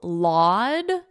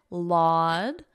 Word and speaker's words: laud: The verb to laud, listen to my pronunciation, laud, odd, laud.